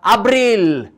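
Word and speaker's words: Abril: मागीर आमकां येता अब्रील, ए बी आर आय एल, अब्रील, इंग्लिशीन एप्रील.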